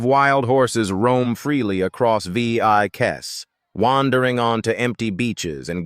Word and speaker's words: Vieques: Number eight brings us back to Puerto Rico's neighbors to a wild and windswept island pronounced Vieques.